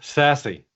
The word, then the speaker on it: SASE: is the the acronym it's pronounced sassy so sassy was first envisioned back